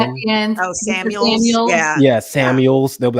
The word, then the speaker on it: Samuel: Yeah, Deebo Samuel changed his number and has added to his name as Samuel Sr.